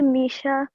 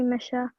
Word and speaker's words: Misha: Well, it's actually Misha, but a lot of people call me Misha.